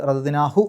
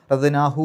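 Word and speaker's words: رَدَدْنَاهُ: അതുകൊണ്ട് റദദ്നാഹു എന്നേ പറയാവൂ, റദദ്നാഹു എന്ന് പറയില്ല.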